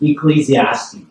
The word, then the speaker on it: Ecclesiastes: Onesimus, and the writer of the Ecclesiastes, repeat after me, Ecclesiastes. Ecclesiastes. 이거 힘든 단어예요. If you can pronounce this, you can show off.